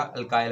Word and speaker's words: alkyl: अच्छा, इसे अल्कल halides भी प्रोनाउंस किया जाता है या अल्काइल हैलाइड, दोनों में से जो भी आप प्रोनाउंस करना चाहें, बोलना चाहें, बोल सकते हैं, पढ़ सकते हैं।